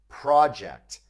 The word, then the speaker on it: project: use the noun project project now don't confuse the noun project with the verb project with the noun the pronunciation stress is on the first syllable project with the verb it's